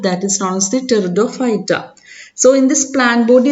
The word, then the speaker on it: Pteridophyta: Okay, P is silent, so we will pronounce it as Pteridophyta.